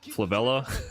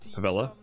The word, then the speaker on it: Favela: around knifing people on Flavella. Or is it Favela? Excuse me. Flavella. How did I say that? What how do you say it? Favela? Yeah, that was just silly.